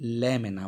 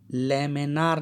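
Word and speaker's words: laminar: एक को हम कहते हैं स्ट्रीम लाइन फ़्लो या इसे कहते हैं लैमिना flow. Stream line flow या लैमिना फ़्लो. लैमिनार ना, इसमें आर साइलेंट है.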